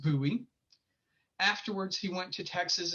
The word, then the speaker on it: Bowie: louisiana his name was bowie it is a french name and is pronounced buoy afterwards he went to